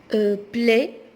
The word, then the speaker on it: plaie: Plaie, on ne prononce pas le E, donc c'est la fin du mot.